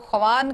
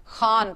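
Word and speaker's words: خوان: इसको ख्वान कभी भी मत पढ़िएगा, जब भी खे के बाद वाव और वाव के फौरन बाद अलिफ आता है तो वाव जो है वो साइलेंट हो जाता है, खान पढ़ना है। इतना इतना लंबा भी करके खान नहीं पढ़ना।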